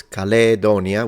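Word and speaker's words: Caledonia: of Europe of course calonia with a long a for phic V length in classical Latin would be modern day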